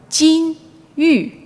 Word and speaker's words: 金玉: Now, goldfish, pronounced jin yu, also it sounds kind of like jin yu, gold and jade.